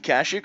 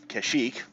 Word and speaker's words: Kashyyyk: as remaining planets go we have kasich or kashyyyk we have manon and korvan or korriban however you'd like to pronounce that either one of these